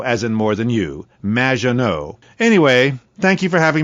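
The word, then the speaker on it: Maginot: Magenot, welcome to the show. Thanks, Amy. However, you have mispronounced my name. It's Madge, which rhymes with badge. As in duh, and no as in more than you. Magenot.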